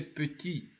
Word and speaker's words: petit: So petit, the T is not pronounced when it is isolated, but the T, it can be pronounced in two occasions.